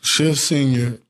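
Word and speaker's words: Shefseenya: you know i mean i like watching people struggle with pronouncing chef which it really is as shift yeah it's part of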